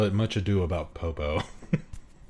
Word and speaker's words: Popo: Or as many people like to mispronounce my name, poop. Mr. Poop. They call me Mr. Poooooooooooooooooooooooooooooooooooooooooo or Mr. Poop. They always forget it's popo.